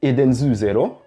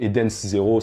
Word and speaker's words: EDENS ZERO: Bon, alors déjà, ce qu'on sait, c'est que le manga s'appelle Edenzu Zero, en japonais, donc Eden's Zero si on veut le prononcer un peu plus à la française.